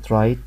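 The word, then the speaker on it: write: الامثله اللي احنا واخدينها الدبليو اللي وراها ار كلنا من زمان عارفين كلمه رايت يعني يكتب يعني يكتب ما نطقنا الدبليو فبقت الكلمه رايت طب الكلمه التانيه ريست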